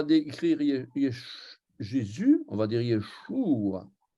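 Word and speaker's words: ישוע: On va dire Yeshua. Et les Anglais vont écrire Yeshua avec un U, mais ils vont prononcer OU.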